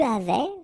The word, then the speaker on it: avais: Okay, so j'avais, final S not pronounced. Tu avais, final S not pronounced.